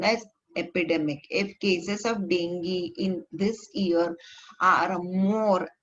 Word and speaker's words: dengue: Dengue fever is caused by the dengue virus. It is pronounced as dengue.